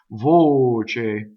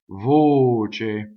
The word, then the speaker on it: voce: for nation so single which is the right way for this word is voce voce okay next is parkil